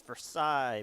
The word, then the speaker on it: Versailles: It's Versailles because it's French and you don't pronounce half of it.